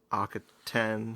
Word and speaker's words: Akhaten: Akhaten. Akhaten. We will... I think the stress is on the last syllable.